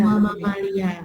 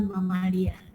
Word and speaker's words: mamalia: Mama Malia, apalagi papalia. Bacanya mamalia ya.